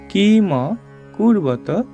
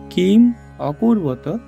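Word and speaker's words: কিমকুর্বত: এর সাথে আমরা জানি এখানে যদি একটা হসন্ত থাকতো তাহলে এটার উচ্চারণটা কিম কূর্বত হইতো কিন্তু এখানে আমরা যেহেতু হসন্ত নাই এটার উচ্চারণটা হবে কিম অকূর্বত সঞ্জয় এটাকে ভাঙলে আমরা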